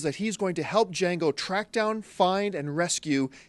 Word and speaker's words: Django: new Quentin Tarantino film, Django Unchained. The D is silent.